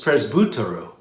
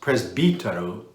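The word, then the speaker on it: πρεσβυτέρου: The first one is presbyteru. Presbyteru, or sometimes it's pronounced presbyteru, that is a word that means essentially an elder, someone who is older, someone who is more experienced.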